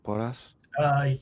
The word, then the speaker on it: Porras: And then by chance, we happened to stumble across Cameron Porras. Is that how you pronounce it, Brian? Porras? Yeah, I'd say that sounds more correct than I would pronounce it.